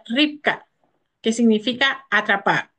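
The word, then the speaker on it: רבקה: del nombre de Rebeca Rebeca en hebreo se pronuncia ripca que significa atrapar o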